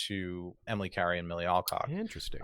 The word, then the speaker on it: Alcock: Emily Carey and Millie Alcock. Interesting. Alcock, sorry. I keep giving this like British accent to her name. It's Alcock. Sorry, Millie.